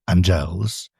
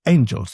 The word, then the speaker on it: angels: grace defend us and angels does not go dum because we don't say angels angels and meners of grace. Shakespeare breaks the pattern. He says angels. You hit that first syllable really hard.